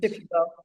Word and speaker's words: Shipibo: teachers it's Shipibo, how do you call it, pronounce it? Shipibo.